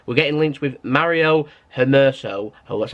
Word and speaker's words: Hermoso: We're getting linked with Mario Hermoso, that's how you say his name, 24-year-old centre-back from Espanyol.